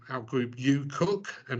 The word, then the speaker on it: UKUEQ: So you may have noticed I pronounce our group UKUEQ and not UKUEQ or something like that.